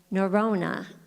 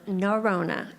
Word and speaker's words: Norona: next speaker is norona as in Corona so norona and she doesn't drink by the way we just use that as a little way to say her name right has more